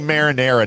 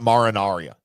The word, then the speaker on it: marinara: We say Marinara, not Marinaria. So there.